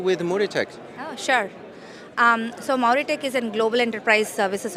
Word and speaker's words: Mauritech: Yes, it's Mauritech. Mauritech. Yeah. Okay, I pronounced it well.